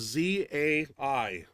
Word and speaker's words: Zai: Claire last name is z a i Zai like pie p-a-i Zai right how you